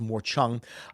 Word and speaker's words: morchang: monar and some and a morchang or as it's supposed to be pronounced more Chong um nice guy master